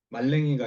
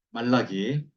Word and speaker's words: 말라기: 말랭이가 아니라 말라기. 음. 지난번에 말레키라고. 말레키라고 그랬죠. 말레키. 11조 관련된 말씀은 어디에 있다고요? 말라기. 말라기. 무말랭이야. 말랭이 말렉이 아닙니다. 예. 말라기.